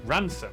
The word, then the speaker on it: Rampisham: Starting in Biaulio, Beauty, head over to Rampisham, Ransom, then down to Mousehole.